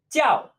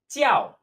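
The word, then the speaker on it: 较: 教. 教. Just like to call.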